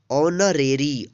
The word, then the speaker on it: honorary: HONORARY, ऑनरेरी। ऑनरेरी means होता है अवैतनिक। तो इसको आप याद कर लीजिएगा और ध्यान रखिएगा हमेशा जब भी इस तरह का वर्ड्स मिले तो इसमें क्या है, एच साइलेंट रहेगा।